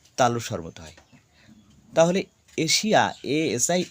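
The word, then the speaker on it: Asia: স্বরব মতে হয় তাহলে এশিয়া এস আই এ কি পারলাম শেষে যদি এস থাকে আচ্ছা আই এ দেখো এস এর পরে আই এ তাহলে এস এর উচ্চারণ তালুসা এশিয়া দেখি এগ্রেস এক্ষেত্রেও তাই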